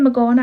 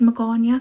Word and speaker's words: Magana: I keep saying Magana out of habit, but I know her name is pronounced Magana, so I'm going to try my best to say it properly.